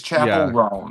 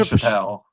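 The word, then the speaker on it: Chappell Roan: Don't tell me you're saying Chappelle. Chappelle.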